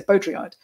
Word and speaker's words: Baudrillard: stuff around that name I think you could just say beaudryard okay yeah I I